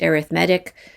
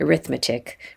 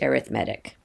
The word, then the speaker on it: arithmetic: this word when it chooses a adjective it's pronounced arithmetic i know we're used to looking at that word and calling it arithmetic but that would be the noun so when